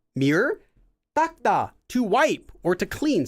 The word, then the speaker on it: 닦다: but 닦다, to wipe, is actually pronounced as 닦다. Believe it or not, it gets pronounced like every single time by everyone as a double tigat letter, even though it's not spelled that way.